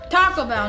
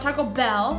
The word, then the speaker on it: Taco Bell: And also, you don't need to emphasize bell because there's literally a bell sound in the commercial after they say Taco Bell. So Taco Bell, not Taco Bell.